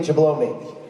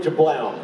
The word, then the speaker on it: Jablome: And really what he meant was, Haywood, I was supposed to say Haywood Jablome. Haywood Jablome. But I mispronounced Jablome, and I thought the E was silent. I actually said Haywood Jablown.